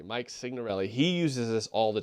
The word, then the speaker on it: Signorelli: You pronounce the G. Signorelli. Mike Signorelli.